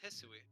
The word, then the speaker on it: Hisui: yeah, it's called Hisui. How did you pronounce it?